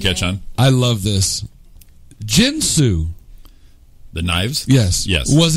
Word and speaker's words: Ginsu: you say more as I've always said jinsu but I you have I have heard Ginsu more of the hard G I'm the Ginsu I